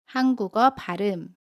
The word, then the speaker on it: 한국어 발음: You write ‘한국어 발음,’ but you pronounce it as .